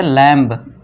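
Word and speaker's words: lamb: जैसे एग्जांपल देखिए एल ए एम बी है तो इसे हम लैंप नहीं पढ़ेंगे। है ना? अब बहुत सारे दोस्त हमारे क्या पढ़ेंगे? इसे लैंब। इस वाले लैंप से ऊपर बिंदु। इसे लैंप नहीं पढ़ना है। ठीक है दोस्तों? इसे लैंप नहीं पढ़ते। क्यों? क्योंकि बी साइलेंट है तो हम ब का साउंड नहीं देंगे।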